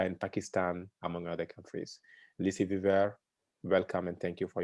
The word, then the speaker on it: Lucie Viver: Lucie Viver, as she told me is the right pronunciation.